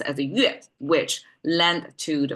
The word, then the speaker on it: 钺: That together means pronounced as a yue, which lent to the sound of this thing.